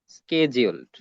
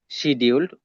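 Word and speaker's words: scheduled: এদেরকে ইংলিশে বলা হয় স্কেজিউলড। অথবা আপনি চাইলেশিডিউলড উচ্চারণ করতে পারেন। স্কেজিউলড বলুন আরশিডিউলড বলুন। একই কথা যার বাংলা হচ্ছে তফসিলভ তফসিলভুক্ত ব্যাংক। স্কেজিউলড অথবা সিডিউলড অথবা তফসিলভুক্ত ব্যাংকের সংখ্যা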